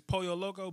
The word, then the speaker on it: Pollo Loco: Raising Cane's stop it I know how it's pronounced Hispanic is Pollo Loco but because two L's make Hawaiian Spanish for